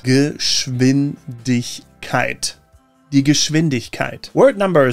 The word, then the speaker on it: Geschwindigkeit: The SCH in Geschwindigkeit is always pronounced sh, and that W is like a V. So it's like Geschwindigkeit and not Geschwindkeit. Die Geschwindigkeit. Geschwindigkeit.